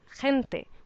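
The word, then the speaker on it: gente: Again with the g there is a g that sounds more like an English h with for example hente which means people.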